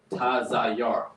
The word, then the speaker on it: Tazayar: Tazayar. Not Tazayar. Tazayar. Ta-za-yar. You have to pronounce the ta and the za individually, because otherwise you end up with taza-yar. That doesn't mean that doesn't mean artist, right?